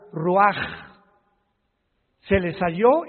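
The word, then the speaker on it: רוח: Roach así como suena se pronuncia la ch en hebreo como J ruaj se le salló y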